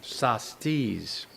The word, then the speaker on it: Sastis: but they're saying this, the Sastis, S-A-S-T-I-S-E, Sastis people, that's how the mountain got its name, because the people of the Hudson Bay Company who were here in the early 1800s either mispronounced it or, Shasta, Sastis.